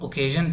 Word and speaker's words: occasion: ओकेजन अगर आप इस पर थोड़ा सा स्ट्रेस करेंगे तो सी पे थोड़ा सा स्ट्रेस आता है, एस पे स्ट्रेस नहीं देते, ओकेजन नहीं बोलता, मतलब ज पे ज़्यादा स्ट्रेस नहीं है, क पे थोड़ा सा है, तो इसलिए स्पेलिंग का